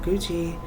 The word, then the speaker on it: Gucci: good I'm Gucci Gucci is also another brand and it rhymes with poochie um and then Gucci